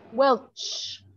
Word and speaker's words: Welch: going to just stun robin is your last name pronounced welsh or welch welch ch like the grape juice like the grape juice